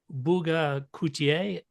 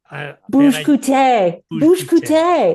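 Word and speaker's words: Olivier Bugge Coutté: Film editor Olivier Bouga-Coutier. Bouche-Coutier. Thank you. That's a French I was name. 2 for 1 on name pronunciations.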